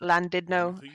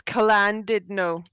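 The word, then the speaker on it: Llandudno: like a cl but it's actually a sound which is you put the tip of your tongue to the roof of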